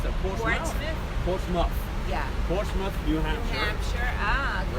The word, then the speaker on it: Portsmouth: Is it how do you pronounce that? Portouth. Portsouth. Portsmouth.